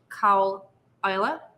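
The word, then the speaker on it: Caol Ila: we'll go on to cowella and it is pronounced cow isla you know i said that ila it's isla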